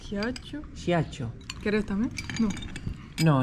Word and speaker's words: Ghiaccio: Giato. Ghiaccio.